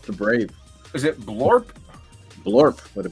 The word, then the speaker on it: Blorp: And this is Blorp. This is his sidekick. Blorp. Blorp. Yep. So I was like, I should do a side story that's called Blorp the Brave. Is it Blorp? Blorp with a B.